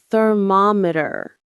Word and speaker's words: thermometer: It's thermometer. The stress is on the middle syllable.